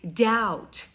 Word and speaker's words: doubt: The word doubt, اگه دقت بکنی که حرف B رو می نویسیم. We write letter B, but we never pronounce it. هیچ وقت تلفظش نمی کنیم. نمیگیم, نمیدونم, doubt, something like that. You never heard from me. هیچ وقت از من نشدی اینو. We say doubt.